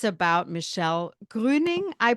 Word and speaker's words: Gruening: I love hearing the proper German pronunciation of it. So that was a gift. So my name is Michelle Gruening.